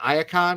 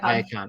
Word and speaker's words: Iacon: promoting uh is it ion is that also the proper way yep ion ion all right cool I